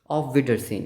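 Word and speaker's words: Auf Wiedersehen: सोहेनी, जेहन, जेहन, जे, ज, ऑफ विडरसेन। इसका मतलब क्या होता है, बाय, सी ओ गेन की सेंस में हम बोलते नहीं है, बाय, ऑफ विडरसेन, ओके।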